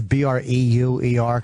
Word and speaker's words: Breuer: And Breuer is Breuer, because people spell it Brew. He's not the fucking governor of Arizona. It's Breuer.